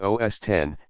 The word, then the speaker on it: OS X: the recent versions are known as OS X pronounced OS 10 and the specific versions